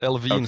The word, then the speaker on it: Elvene: or is it Elven or how do you pronounce that? Uh, Elven has is how we usually pronounce it, but Elvine sounds just fine.